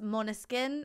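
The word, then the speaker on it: Månskin: mona skin which is it's spelled m a with like the little circle over it and s-k-i-n but it's mona skin is how you like say it it's like it's um i think danish for midnight or moonlight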